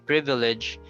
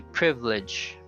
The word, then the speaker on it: privilege: Instead of saying privilege, you say privilege. Even though it's not wrong, but in an oral communication, that's what happens. They remove the second syllable.